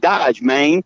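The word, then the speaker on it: Dodge Main: Okay, it's spelled like the car Dodge, but the other word is MAIN, but it's slang. It's like Dodge, Maine.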